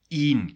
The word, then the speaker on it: één: Then you have to really make a difference in the pronunciation. Ga één keer, and not ga een keer naar daar.